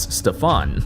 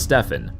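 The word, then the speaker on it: Stephen: more ways than you can count First Harrison pronounced his name as Stefan not Stefan then when he was presenting his PowerPoint presentation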